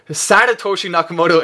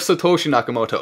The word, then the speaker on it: Satoshi Nakamoto: Then we also see he pronounced it Satoshi Nakamoto instead of Satoshi Nakamoto.